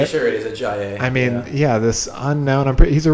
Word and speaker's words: Ajayi: Pretty sure it is Ajayi.